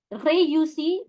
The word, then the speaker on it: réussi: Réussi, make sure that when you have E with an accent aigu, it gives you the A sound.